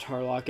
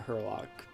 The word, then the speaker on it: Harlock: in Japan and yes it's pronounced Harlock and not her lock so anyways let's begin